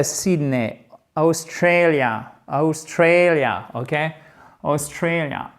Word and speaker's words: Australia: Australia, accent tonique ici, Australia. Faites bien la diphtongue, Australia.